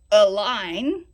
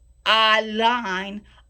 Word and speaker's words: allein: This phrase, when you say allein, okay, it's so easy for English speakers to say allein, and it sounds like the word align, which is not correct. It's allein, allein, allein, allein, okay?